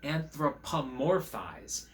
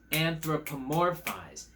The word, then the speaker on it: anthropomorphize: eye and a personality that term is called anthropomorphize anthropomorphize anthropomorphize that's five syllables and that means to